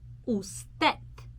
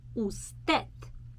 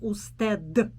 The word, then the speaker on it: usted: also have the word usted usted okay so first of all i want to show you that i do not pronounce d in the end i'm not saying usted but it's very soft